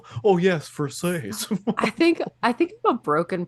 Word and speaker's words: Versace: It's Versace, dick. But he wasn't saying you fucking idiot. He's like, it's pronounced Versace.